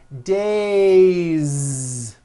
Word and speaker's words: days: see that another example the word day it ends with the vowel sound a so you have one day or two days it's not days on voice it's days with a